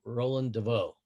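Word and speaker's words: Roland de Vaux: Okay, Roland Deveau.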